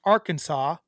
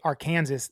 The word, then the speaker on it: Arkansas: say the word the name Arkansas wrong it's pronounced Arkansas and like when people say Aransas they don't like it no apparently they're like